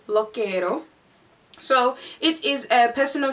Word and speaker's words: Lookiero: look at all honestly it took me ages to get the pronunciation right because when I looked at it I thought it said lo quiero but it is called lo quiero so it is a